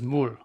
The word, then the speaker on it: 물: If I was going to spell it in English, I would write MOOL.